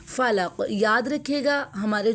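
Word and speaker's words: فلق: नहीं होने देंगे फलक फ को जब हम प्रोनाउंस करेंगे तो ऊपर वाले जो दो दांत है ना उसको हम नीचे वाला जो लिप है ना उसके अंदर वाले हिस्से को हम टच करेंगे। फ को हम इस तरह प्रोनाउंस करेंगे।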